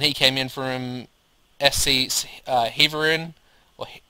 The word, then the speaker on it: Heerenveen: came in from SC Heerenveen, or how do you say that? Heerenveen? Yeah, Heerenveen. Which I did actually loan